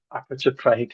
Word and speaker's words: apotropaic: These are called apotropaic, to get the pronunciation right, apotropaic markings, otherwise known as witch markings.